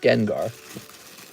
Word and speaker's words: Gengar: And here's the Gengar. Gengar. It's pronounced Gengar.